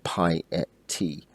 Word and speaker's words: piety: to each by natural Pi T you know there's this um or Pi t two or three syllables depending on your preference 10 two three may